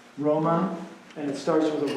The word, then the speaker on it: Roma: Is it pronounced any different, is it No. just Roma?